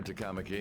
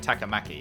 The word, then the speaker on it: Takamaki: I was pronouncing it Takamaki. It's Takamaki. Or I may have already forgotten how I pronounced it. I think the emphasis was on the cat.